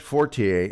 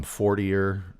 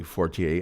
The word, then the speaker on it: Fortier: I think a lot of people call him Forier. I'm not doing that. That's not how it's pronounced.